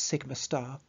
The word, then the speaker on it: sigma star: And so that would be pronounced sigma star, represents the antibonding sigma orbital.